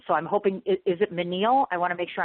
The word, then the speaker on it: Meenal: I'm hoping, is it Meenal? I want to make sure I'm saying it right. It's Meenal. Meenal, just like that. Okay, got it. Meenal, almost like mean but not mean, because you're not mean at all.